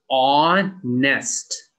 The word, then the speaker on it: honest: this one as well this one is on nest you do not say the h it is not honest just honest do not say the h